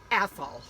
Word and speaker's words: Athol: spelled a-t-h-o-l okay and the joke is be careful how you say it so because people will know if you're from not from the area right if you say it right well people want to sometimes put an e on the end of it and it changes it oh right right i